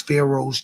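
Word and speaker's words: Faro: The world knows Pharaohs to be kings, my My name is spelled fashion pharaoh. F A R O.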